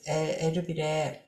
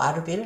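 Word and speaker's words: Erbil: 기도하고 있었고 저는 그래서 에르빌 에르빌 뭐 아르빌 뭐 영어 식으로도 발음하고 그 트키 거기 현지 발음은 에르빌이라고 제가 알고 있는데습니다 그 지역에서 어 뭐라 그럴까요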